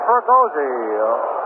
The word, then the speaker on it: Fregosi: So Fergozzi goes in. That's spelled Fregosi.